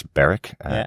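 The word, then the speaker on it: Berek: Isildur being saved by his wonderful horse, Beric, rhyming with my name from the layer of Shelob.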